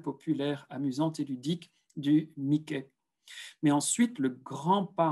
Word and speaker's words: Mickey: Mickey Mouse, que vous devez reconnaître ici, avec la petite souris que l'on prononce Mickey en français.